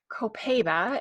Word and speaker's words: copaiba: plants so in this blend we're gonna find copaiba or co Paiva as some people pronounce it which is a tree and that